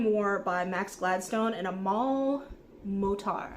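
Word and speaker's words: Amal El-Mohtar: by Max Gladstone and a mul motar I believe is how the name is pronounced um this one was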